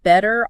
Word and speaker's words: better: And better often turns into bitter. Better.